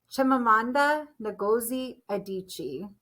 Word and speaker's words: Chimamanda Ngozi Adichie: name totally correct i hope i did again chimamanda ngozi adichie i believe is how you say it and